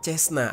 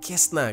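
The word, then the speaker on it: Cessna: Dan pesawat pertama yang berhasil dia curi adalah pesawat Cesna atau Kesna gitu ya bacanya.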